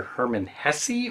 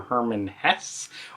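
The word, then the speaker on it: Hermann Hesse: As usual, it's either Herman Hesse or Herman Hesse, or maybe something even completely different. I like to say Herman Hesse, though. I mean, if you're going to have the extra E at the end, I'm going to pronounce it.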